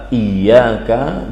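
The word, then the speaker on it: إِيَّاكَ: Para ahli baca Al-Qur'an yang 7, kemudian jumhur ulama membaca iyyaka dengan diberi sabdu atau tasydid pada huruf ya, iyyaka. Jadi cara membacanya iyyaka.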